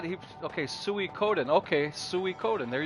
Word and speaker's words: Suikoden: knew how to oh he said he okay suey coden okay suey code and there you go thanks foamborn i never knew how to pronounce that so thank you for that i